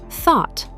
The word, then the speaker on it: thought: completely, like think becomes thought, buy becomes bought, catch becomes caught, bring becomes brought. They all have that same deep vowel sound followed by a silent GH and a sharp T.